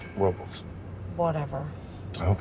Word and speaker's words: Robles: it us approvals well the correct pronunciation is Robles but they call it Robles whatever I hope it's